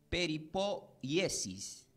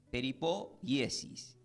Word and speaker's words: peripoiesis: La palabra preservación del griego se pronuncia como peripoiesis.